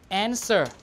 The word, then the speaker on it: answer: the Middle English period only the S is pronounced the W is not pronounced so we have sword W is not pronounced answer W is not pronounced